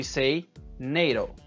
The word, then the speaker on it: NATO: Acronyms are spoken as a word. So NATO, North Atlantic Treaty Organization, is not pronounced NATO. We say NATO.